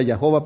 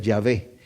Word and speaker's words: Yahvé: la pronunciación en inglés tenemos yahua que realmente tomaron las vocales de adonay para se las metieron entre la y yh bh para que sonara yahua pero se cree que esa no es la pronunciación lo más correcto que sabemos que puede ser yahvé y ya es una